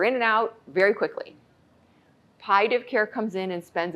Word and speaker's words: palliative: Because we always say there's no why in palliative. Because many people say palliative instead of palliative. There's two L's and you pronounce both L's.